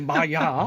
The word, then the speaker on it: 마야: 그 아타고급 또 그 이상의 마약급들을 건조까지 발음 했고 잘하셔야 되는 게 마약급으로 들렸어요. 마약. 아니 마야 네, 일본이 좀 마약이 많죠.